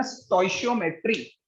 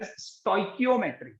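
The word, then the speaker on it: stoichiometry: अब ये जो टर्म है ना स्टोइशियोमेट्री, इसको एक दूसरे तरीके से भी प्रोनाउंस करा जा सकता है. यू can even pronounce it एज स्टोइकियोमेट्री. स्टोइकियोमेट्री as well as स्टोइशियोमेट्री, दोनों ही प्रोनाउंसिएशन इसके लिए सही है.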